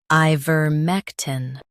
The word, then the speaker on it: Ivermectin: I vur mec tin Ivermectin Stress mec and keep tin soft.